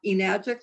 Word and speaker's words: Enagic: My last name is, at Enagic, and you pronounce that Enagic like magic.